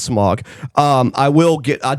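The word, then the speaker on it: Smaug: And then and then she mentions the dragon's name again, but she calls him Smog, which is correct.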